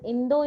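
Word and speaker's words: インド: So India is pronounced as Indo in Japanese language.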